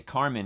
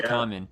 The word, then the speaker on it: Kamen: Sometimes you want to say Carmen because you think the R's are, but it's Yeah. Kamen.